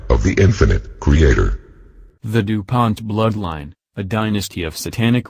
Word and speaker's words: DuPont: ations in spelling the DuPont name are as follows Dupont and Dupont damor in English the second syllable is accented in French neither syllable